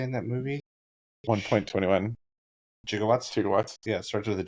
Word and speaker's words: gigawatts: Is it gigawatts or gigawatts? It's actually gigawatts, but back then, giga wasn't really something that we used ever, and so he mispronounced.